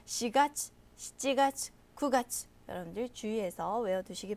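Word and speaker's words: 四月: 4月. 보통 시라는 말은요, 죽을사기 때문에 일본에서도 잘 사용하지 않는데요. 4월은 시가츠라고 읽습니다. 여러분들 주의해서 염두에 두십시오.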